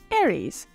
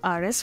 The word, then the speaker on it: Aries: more adventurous about the different idolon body types Aries now I'll admit I actually Googled the correct pronunciation of his name because I've been calling him Aris for a long time but anyway as the